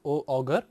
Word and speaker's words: Auger: In this lecture, we will learn about Auger electron spectroscopy. Here we say that OUGER, it is not pronounced as auger, but it is pronounced as Auger, AUZEY.